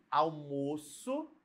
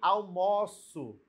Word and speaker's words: almoço: Uma vai ter o som fechado, almoço, ó, almoço fechado, e o verbo, né, vai estar com o som aberto, ó.